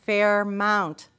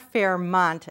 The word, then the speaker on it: Fairmount: Second, Fairmount is pronounced Fairmount, not Fairmont, as Bill keeps saying.